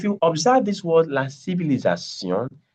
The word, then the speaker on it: civilisation: Now, if you observe this word, la civilisation, the last I is not pronounced as E, but the first 3 are pronounced as E.